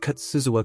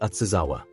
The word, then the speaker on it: Katsuzawa: The student who is drawing is named Katsuzawa Kousuke, although many people often mispronounce his name as Atsuzawa.